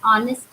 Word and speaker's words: honest: An honest man. Honest. We don't say honest man, isn't it? We say honest man. So in that case, H is what? It is silent.